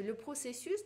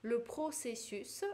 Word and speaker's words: processus: Дальше, le processus, процесс, какой-то ход действия, le processus, S читается, l'infarctus, S тоже на конце читается.